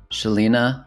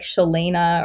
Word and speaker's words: Sheleana: grov podcast we have a returning guest here Shelina welcome thanks for having me you know